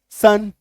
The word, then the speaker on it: son: ठीक है, जैसे आप ये कहेंगे, जैसे कि ये देखो, SON सन, SUN सन, है ना, तो ओ का भी साउंड अ, यू का भी साउंड अ, और आई का भी साउंड अ।